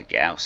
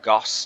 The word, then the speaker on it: Gauss: finally we have the Gus shotgun gas weapons or Goss depending on how you pronounce it are different in the